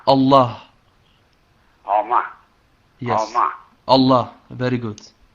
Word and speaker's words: Allah: We pronounce it like Allah. All. Yes. But we pronounce it like Allah.